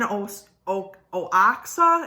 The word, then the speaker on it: Oaxaca: So essentially, archaeologists discovered the oldest domesticated pumpkin seeds were actually in Oaxaca, if I'm pronouncing that correctly.